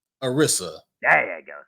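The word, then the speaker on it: Anissa: her name how do you say that name Arisa there you go say it loud and proud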